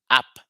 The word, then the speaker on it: ap: a p which is pronounced app like you would say application app in English the application app app